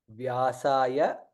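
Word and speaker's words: व्यासाय: Namaha Vasisthaya Namo Namaha Vyasaya, it is Va and Ya, Vyasaya Vishnu Rupaya.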